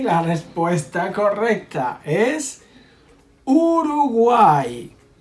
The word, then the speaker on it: Uruguay: Y la respuesta correcta es Uruguay. Because the R here is soft, okay? Between vowels.